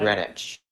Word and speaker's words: Greenwich: Greenwich. I know, I screwed myself up because I wanted to pronounce the W again.